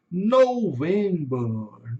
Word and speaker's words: November: November. November. Então o November em inglês vai ter um som de o U entre o O e o V. Aqui vai ter porque é uma vogal longa.